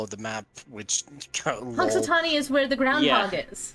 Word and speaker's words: Punxsutawney: Oh yeah, I have no idea how you're meant to pronounce that. Punxsutawney. What? Punxsutawney, apparently. Punxsutawney.